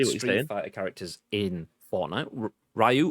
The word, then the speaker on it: Ryu: Ryu, or Ryu as it should be pronounced, but it's always going to be Ryu for me.